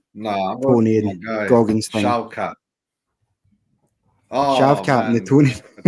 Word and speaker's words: Shavkat: He said my name pronounced Shavkat. It's like the German VW, like the V for the W.